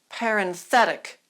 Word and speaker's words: parenthetic: other is singular but we're going to form an adjective and the accent once again is going to move and those two sounds are going to be smoothed out parenthetic or parenthetical let's practice